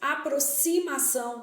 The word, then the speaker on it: aproximação: Então, palavras com X com som de SS. Aproximação.